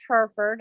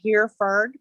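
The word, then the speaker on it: Hereford: it's now herford it's spelled kind of funny but it's pronounced herford i'm trying to get my husband to drop the e it's not here fern but he's like not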